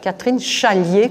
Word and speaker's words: Catherine Chalier: Catherine Chalier, comme ça se prononce.